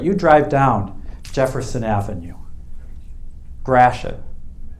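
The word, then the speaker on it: Gratiot: drive down jefferson avenue grashan there's a detroit pronunciation for you if you ever heard them grash it yeah well that's the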